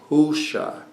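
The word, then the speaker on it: הושע: Hosea is, just so you know, is spelled Hey Vav Shin Ayin. Husha is the way it's really pronounced.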